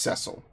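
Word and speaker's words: Cecil: sire is beautiful to behold you are dismissed cile and yes it is pronounced cile that's how they say it in the DS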